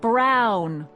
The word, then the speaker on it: Brown: to a tee that's Emmett Brown rhymes with clown which I'm beginning to